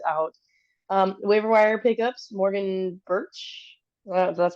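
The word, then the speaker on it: Bertsch: Waiver wire pickups: Morgan Birch. That's how you pronounce her name.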